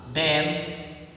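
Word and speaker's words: damn: जैसे ऑटोमॉन, एम एन दिया है ना, यहाँ पे एन जो है आपको साइलेंट है, एन क्या है आपको साइलेंट है ना। डैम, हैम, कॉन्डेम, कॉलम, ईटीसी।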